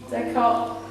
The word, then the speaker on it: Descartes: Is that how you pronounce it? Descartes.